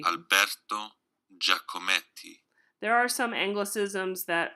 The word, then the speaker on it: Alberto Giacometti: So if you want to learn how to pronounce things, so Alberto Giacometti. I say Giacometti. Alberto Giacometti.